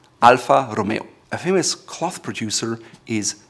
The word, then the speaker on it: Alfa Romeo: It's Alfa Romeo. Again, it's an Italian name, so use the R in the front, and it's not Alfa Romeo, it's Alfa Romeo. Alfa Romeo.